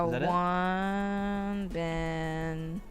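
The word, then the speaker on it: Wonbin: W O N B I N. Yeah. One Ben and then Lee. I think it's like that. Oops.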